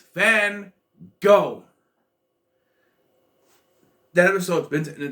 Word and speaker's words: Van Gogh: gogh it's van gogh no they're saying it wrong everyone says it wrong it's fan go that was so expensive